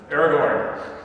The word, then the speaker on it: Aragorn: gondor his right name his true name is aragorn eric excuse me aragon now i said it wrong bolton aragorn the stupid uh book has got me anyway but being